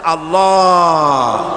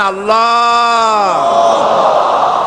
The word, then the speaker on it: আল্লাহ: পাকের নাম উচ্চারণ হচ্ছে আল্লাহ আল্লাহ মুখটা একটু গোল হয়ে যাবে বলেন আল্লাহ আল্লাহ আল্লাহ আল্লাহ সুবহানাল্লাহ